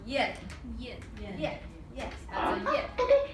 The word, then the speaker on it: 燕: It's a kind of bird, and it's pronounced yin. Yin.